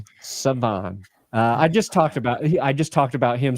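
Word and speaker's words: Shavon: Siobhan or Saban? Savon.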